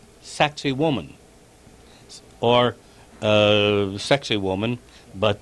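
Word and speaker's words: Sacsayhuamán: above the the colonial city of Cusco called sexy woman or a sexy woman but the actual pronunciation is sexy woman and the this was where the Incas suffered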